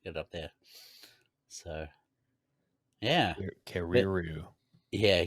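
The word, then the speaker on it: Kererū: So, yeah, Kariru. yeah, Keruru. It's a little bit hard to pronounce, but New Zealand wood pigeon is like the English name for it.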